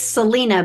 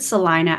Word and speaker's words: Celina: Yes, it looks like it's Celina, but we pronounce it Celina.